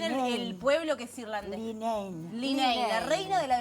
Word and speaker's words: Leenane: Bueno, con esta obra la belleza tengo acá como el me quedó de la belleza y pronúncianos bien el pueblo que es irlandés. Linein, Linein, la reina de la belleza de Linein.